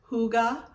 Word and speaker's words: hygge: you on a tour highgi hi higa hygge high g a lot of different ways that i tried saying it before i feel like i pronounced it correctly as hygge to danish word the